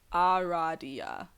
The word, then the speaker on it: Aradia: okay here we go all right it is pronounced a good name Aradia well I've actually been saying it like that